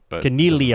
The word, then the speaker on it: Caniglia: believe that's his name and it's Connie Connie Lia connealy uh-oh so it's silent G like a Familia right right right right